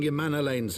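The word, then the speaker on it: Emmanellain: I cannot thank you enough for saving young Emanolane's life.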